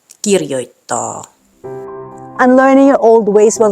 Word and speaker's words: kirjoittaa: And lastly, the stress is on the first syllable, meaning these words aren't pronounced Helsinki, tavara, kirjoita. Should be Helsinki, tavara, kirjoittaa.